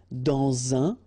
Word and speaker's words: dans un: Remember, when you will have this D, you will phonetically pronounce it like T. Quand elle, dans un, okay, in that case you've got this préposition